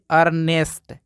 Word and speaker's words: earn: silent रहेगा इसको पढ़ेंगे अर्नेस्ट यानी कि ई का कोई भी उच्चारण नहीं होगा यहां देखिए ई के तुरंत बाद ए आर आया है तो यहां भी ई साइलेंट रहेगा इसको पढ़ेंगे अर्न और